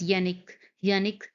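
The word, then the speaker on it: Jannik: Yannick, it's pronounced as Yannick Sinner won January 2024 Australian Open Men's Final.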